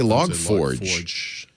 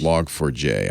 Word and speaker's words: Log4j: over how you pronounce log4j yeah uh some people actually say and i didn't i always said log4j but some people say log forge yeah not log forge it's log for j i've checked the guy